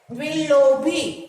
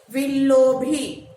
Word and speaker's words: Willoughby: Pronounce it. Willoughby. Again, Willoughby. Willoughby.